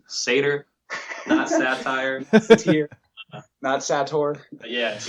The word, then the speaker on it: Satyr: locusts a bug or anything like that later pronounced satyr knots a tour yeah if you're like most